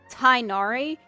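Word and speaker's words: Tighnari: like I guess for the pronunciation is tinari so why do you have the G and the H it just throws people off just do t i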